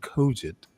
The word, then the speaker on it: cogent: So this motherfucker's listening to me and I mispronounce a word and that motherfucker stopped painting, looked up and said, Stanley, it's pronounced cogent.